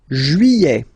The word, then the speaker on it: juillet: Juillet. Okay, you get this double L here. Juillet. Juillet. Don't pronounce this final T, E-T here at the end.